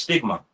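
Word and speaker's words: στίγμα: You know that word mark there in the Greek is pronounced stigma. And when you go into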